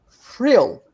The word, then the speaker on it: Vril: a V, it's pronounced frill, because it's a German word, and V is pronounced as an F for us.